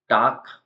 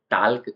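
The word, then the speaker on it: talk: half नहीं बोलेंगे इसको टाक मतलब होता है बात करना तो ल्क इसको नहीं बोलेंगे वाक मतलब चलना तो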